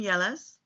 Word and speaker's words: Mieles: give me your full name and how you pronounce it okay my name is Ellis Ellis no no middle name what is your